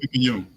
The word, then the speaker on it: Picayune: Picayune.